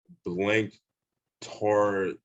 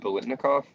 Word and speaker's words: Biletnikoff: it too, that's in the hall, is Fred Blink Tornoff. I think I know I pronounced his last name wrong. I'm pretty sure you know who I'm talking about. Wait, Fred Biletnikoff?